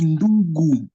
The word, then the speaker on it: ndugu: That is either the influence of your now original language or French that's making you pronounce G. It's ndugu.